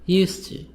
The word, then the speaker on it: used to: So D is silent. The letter D is silent.